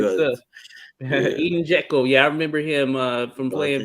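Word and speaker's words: Džeko: me, yeah, when they ask me how to pronounce his name, I said just call him the way you call Michael Jackson, Jekyll, but kind of just Jeko. a little bit slower, Jekyll. That's that.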